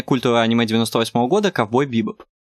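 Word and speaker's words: Bebop: Ударение в названии ковбой бибоп падает на второй слог.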